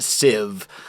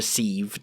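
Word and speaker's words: sieve: my way towards a civ uh and or a seieve. Both pronunciations are correct. Depends on if they're they're both correct.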